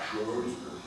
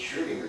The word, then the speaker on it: Schrödinger: It's not Schrödinger. It's Schrödinger. You got to say it like a German.